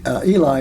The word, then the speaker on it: Eli: Okay, Eli is spelled E-L-I, like Eli Whitney.